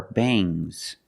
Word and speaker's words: bangs: When you have S after NG, it makes the nasal sound but it also makes a little G sound, but not a hard, strong G. These are bangs.